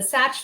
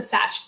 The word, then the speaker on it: SACH: Number 1, the Satch foot, single access foot, multi-axial, dynamic response.